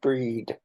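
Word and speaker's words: Bríd: the full title is Bridget pronounced breed the way in which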